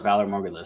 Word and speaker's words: Valar Morghulis: When he said it, I was like, no, it's Valar Morghulis.